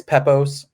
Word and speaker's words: Pepose: No, it's fine. It's Pepose.